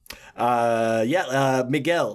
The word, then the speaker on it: Miguel: Miguel. Let me that's how you pronounce his name in Espanol.